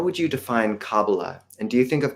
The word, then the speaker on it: Kabbalah: I'll pronounce it as cabala with the stress on the final syllable but if anyone during the Q&A wants to say cabala that's totally fine I